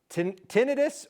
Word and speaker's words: tinnitus: Tinnitus or tinnitus? There's been a vast disagreement. How do we pronounce it? Yeah, it's a battle for the ages, but I gotta say you're right either way because it's frustrating no matter how you pronounce it.